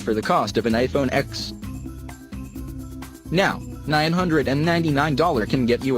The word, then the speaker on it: iPhone X: big-ass announcement, the big-ass iPhone X. That iPhone X, pronounced like Mac OS X and not Malcolm X, will cost you a non-trivial $999, which is officially car money, and not just phone money.